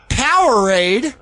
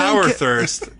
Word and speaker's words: Powerade: Powerade is the drink. Power thirst. You're saying it wrong. Power thirst. It's Powerade.